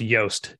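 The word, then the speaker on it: Jost: time uh Frost initially launched I believe it's pronounced yoast j-o-s-t was the original font that Frost launched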